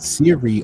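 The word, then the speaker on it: Seere: e e r e it's pronounced Siri right all they did was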